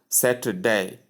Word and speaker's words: Saturday: The middle syllable is softened. So you get more of s and day but you pronounce the three syllables Saturday.